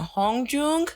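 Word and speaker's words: Hongjoong: even pronounce her now hong-joong it's the double oh that gets me so you're gonna hear me say hong-jong a lot but i think it's pronounced hong joong i am so sorry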